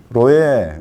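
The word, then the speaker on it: רועה: 로에. 예, 쪼는 아까 양떼, 염소떼 이런 떼고 로에. 예. 스레쉬 아인이 들어가요. 아인. 로에. 에 할 때 그 에는 아인이 되는 거예요.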